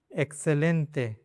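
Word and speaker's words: excelente: दूसरा rule, before consonant, consonant के पहले अगर 21 आता है, 21 के बाद में देखो तो ये कॉन्सोनेंट है प, तो इसको से पढ़ेंगे।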